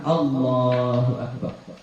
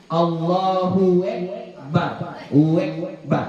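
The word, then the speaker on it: الله أكبر: rusak cara membacanya Nah contoh rusak tadi yang tadi itu Allahu e allahuekbarekbar Nah itu rusak itu itu enggak boleh dia harus Allahu A Ya A jangan e dia a kemudian h-nya H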